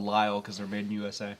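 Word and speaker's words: Lisle: So if you look at it, and it's Lyle, but it's spelled L-I-S-E. Yeah, it's L-I-S-L-E. Yeah.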